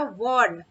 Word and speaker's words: warn: next word है हमारा वॉर्न, WARN, वॉर्न, ठीक है, इसे वॉर्न पढ़ेंगे, वॉर्न, आर जो है इसमें हल्का सा प्रोनाउंसिएशन मीन साइलेंट होगा, वॉर्न, वॉर्न, ठीक है,